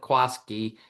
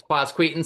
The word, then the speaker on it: Quasqueton: Everybody calls it Quaskki because they can't go Quasqueton. I don't think the kids that even grow up there can spell it or say it very well, but um but it's quaseton.